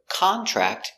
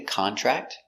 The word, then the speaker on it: contract: you please sign the contract contract is a verb it means to get a disease he contracted a serious disease contract in a pass